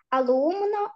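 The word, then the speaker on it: alumno: Алумно, алумна. Алумно, о, алумна. Звертаю вашу увагу, що найчастіше в іспанській мові наголос падає на передостанній склад. Тому алумна, алумно, алумна – це учень-учениця.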